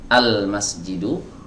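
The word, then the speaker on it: المسجد: nggak dibaca Alba itu Ini lamnya dibaca Al masjidu ya bukan emas gitu ya arrojulu bukan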